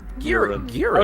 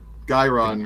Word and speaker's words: Guiron: Urine? Urine? Urine. Oh, so we have been saying it wrong.